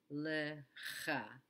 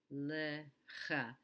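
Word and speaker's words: לְךָ: The first figure you see on the right is pronounced lecha, lecha. The shva makes a small sound because it's the beginning of the syllable, and then we pronounce the cha.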